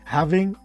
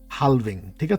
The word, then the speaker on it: halving: so I'm super excited having it's having not haling this L is silent so having basically means